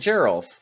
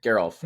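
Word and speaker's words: Geralf: two is Giza and Gerald geez and garof sorry geralt I always get that one wrong that's a soft G on them Giza and garof two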